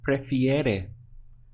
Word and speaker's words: prefiere: To express he, she, or it prefers, it's going to be prefiere. We have now ere at the end. So we have pre, fi, ere. 3 sounds.